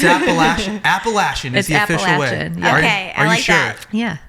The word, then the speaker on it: Appalachian: yeah well I mean I said Appalachian and then I went there and it's appalachin okay I like no